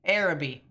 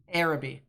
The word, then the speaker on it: Arabi: down real quickly Arabi araby perfect appreciate it I've heard conflicting ways to pronounce that Arabi Arabi so emphasis on the air Arabi I'm trying to remember